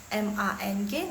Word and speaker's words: 忙: Tadi kan Laoshi udah ketik yang mang. M-A-N-G nada keempat. Sorry, nada kedua. Nada kedua, mang.